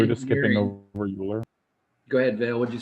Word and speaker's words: Euler: I'd say there's a definite argument that Euler, you pronounce his name Euler, E-U-L-E-R, Euler was greater.